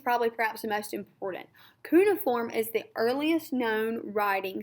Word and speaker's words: cuneiform: cuneiform i'm sorry i was saying it wrong cuneiform writing was made up of about 1200 different